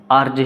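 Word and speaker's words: RJ: तो यहाँ पे आर जो है, जब हम इसे बोलते हैं, इसका प्रोनाउंसिएशन करते हैं, तो आ वोवेल से शुरू होती है, चाहे वो कंसोनेंट है, बट साउंड जो है आपका यहाँ पर वोवेल है।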